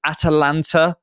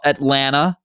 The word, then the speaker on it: Atalanta: And I can't wait for all the people who are going to say, George, it's Atalanta, not Atlanta.